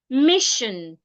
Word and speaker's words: mission: you have a consonant sound before s i o n it will sound Mission if you have a